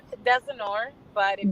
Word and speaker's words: Desinor: It's Desinor, but if you pronounce Desinor.